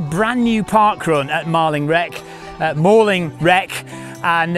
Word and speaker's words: Malling Rec: I'm going to get a mauling if I pronounce it incorrectly. We're at Mauling Wreck.